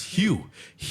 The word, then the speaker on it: Hugh: And she said, it's Hugh, and I was like, what the Get out of here.